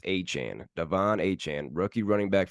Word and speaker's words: Achane: Devon aan now it's it's been pronounced a chain for a while the rookie running back for the Dolphins but I guess he came out after the game says it's pronounced aan Devon aan rookie running